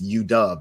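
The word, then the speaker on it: U-Dub: University of Washington, which he told me it's UDub, that's how they pronounce it, where he spent three years advancing equity focused initiatives.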